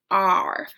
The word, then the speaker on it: are: the R sound, R, even though there's an E at the end, okay? So A-R-E says R.